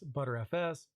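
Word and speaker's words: Btrfs: Pronounced as ButterFS, that's how I pronounce it on my end.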